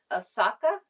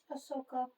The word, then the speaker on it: Ahsoka: And so please meet Asaka. Is that right, Jaden? Ahsoka. Oh, Ahsoka. Ahsoka. I don't know why I can't pronounce that name.